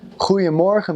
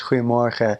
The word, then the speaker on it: Goedemorgen: So, he'll be like, "Goedemorgen, mevrouw. Mijn collega en ik," and it's just so hard and like, just like he's just rocks falling out of his mouth. Whereas when a Dutch person says it rounds it off.